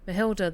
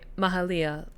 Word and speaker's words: Mahalia: Mahilda, the last weaver of Prospero. Uh, sorry, Mahalia.